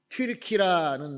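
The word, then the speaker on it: Türkiye: 터키는 영어식으로 발음하는 것이고 그 터키에 있는 사람들이 우리는 터키가 아니고 트르키다라고 해 가지고 트르키라라고 이제 이름을 바꿨습니다.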